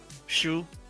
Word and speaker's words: Xu: Yeah, it's it's Jackson Shu. Yeah, it's actually pronounced sh hu. Shu is it's an X, but you pronounce sh when you write in Mandarin.